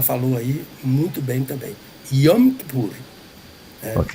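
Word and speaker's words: Yom Kippur: É, ah, pronunciou corretamente, eh, eh, o dia da expiação, que em hebraico é você já falou aí muito bem também, Yompur, né?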